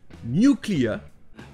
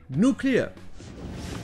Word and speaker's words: nuclear: tout et tout ça ça nous donne en anglais britannique new clients chinois et en anglais américain nos clients explique ce bon tout